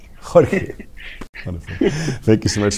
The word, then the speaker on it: Jorge: Jorge, am I pronouncing this correctly? it's Jorge. Jorge.